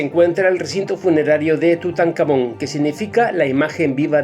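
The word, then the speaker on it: Tutankamón: el recinto funerario de tutancamon que significa la imagen viva del dios Amón la k sería en realidad una kh y se pronunciaría como una J pero voy a usar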